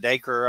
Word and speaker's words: Dacre: friday night 704 uh p.m central we got daker uh stoker here and that's daker stoker i